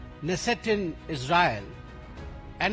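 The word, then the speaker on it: Knesset: Modi goes to द केनेसेट I think it is pronounce नेसेट नेसेट in Israel and ही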